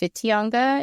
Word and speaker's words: Whitianga: Whitianga. It actually started with the WWHITINGA, but it's pronounced Whitianga in the Maori language.